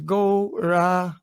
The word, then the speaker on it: Gauranga: We will divide Gauranga into 4 syllables. Gauranga.